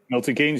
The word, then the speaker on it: Milton Keynes: milton keynes is that how you say it milton keynes yeah that's correct um on the zone joshua